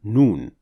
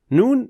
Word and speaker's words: Noon: In this lesson, we'll tackle the letter Noon, how to pronounce it properly, and what are the most common mistakes related to it. Noon is another letter pronounced from the edge of the tongue.